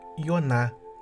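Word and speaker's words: יונה: significado original de hebraico muito embora no hebraico não temos a consoante J mas se é pronunciado com a letra y Ioná e que tem o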